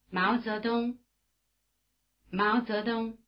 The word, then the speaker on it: 毛泽东: 浩浩浩 The diphthong Ao is spelled AO as in Mao Zedong. In Chinese, 毛泽东毛泽东 try repeating.